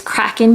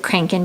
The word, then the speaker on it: Kraken: this is another one I pronounced it wrong in my last video it's Kraken berry I said crank and berry I don't I don't